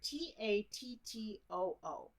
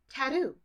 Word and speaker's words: tattoo: i was thinking about when i heard australians say the word t-a-t-t-o-o they say taru taru which makes total sense because it's a t to a d sound but americans say tattoo i'm like why do americans say tattoo but australians say taro and we should say matter and tattoo i don't i don't